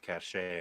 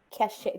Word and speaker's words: cachet: Cachet. Would you say cachet? Does that mean cash? A or cachet? What do you cash? I think it's the French pronunciation.